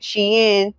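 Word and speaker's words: Shein: Sheen, but or Sheen, it depends on how you pronounce it. I call it Sheen because I watched the documentary and it was originally called Shien, but everybody call it Sheen because of the way that it's worded.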